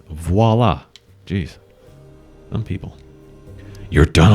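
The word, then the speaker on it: voilà: privacy aola it's open see everyone that's how it's spelled it's not and voila it's voila geez some people you're done already you're pretty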